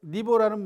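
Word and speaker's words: 尼父: 선사니보, 그러니까 가장 이른 스승님인데 니보라는 말은 공자님이 자가 중리예요. 중리. 이름은 구조, 공구고 이름은 구고, 자가 중리입니다. 왜 그러냐면 공자님께서 태어난 산 이름이 니구산이에요. 그래서 뒤에 부자, 아비 부자는 존칭입니다. 읽을 때는 보라고 읽어요.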